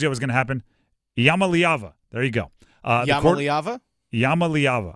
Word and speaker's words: Iamaleava: Iamaleava. There you go. Iamaleava? Iamaleava. I believe that's how you pronounce it.